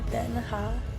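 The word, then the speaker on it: Den Haag: She told me to pronounce it den-ha, so that's gonna be my pronunciation in this video. Not very traditional, but we got ramen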